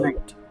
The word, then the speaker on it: Lopt: I am known as Wait, I'm Lopt. That is spelled L-O-P-T for those who want to know.